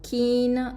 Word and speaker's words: keen: Ensuite pour keen, donc c'est avec un i long, keen.